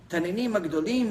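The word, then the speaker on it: תנינים גדולים: Taninim Agdolim means giant reptiles.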